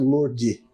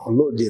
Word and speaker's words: Lordi: um senhor chamado Roberto Lordi, certo? Eu aprendi a pronunciar o sobrenome dele, meu amigo lá ensinou, Lordi, não é Lordi, né?